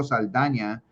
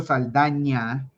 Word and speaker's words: Saldaña: Vicente Ramon Guerrero Saldaña was one of the if you guys ever see this little N with the little squiggly thing on top, you Yeah. pronounce that with a ña, I see how you just Saldaña.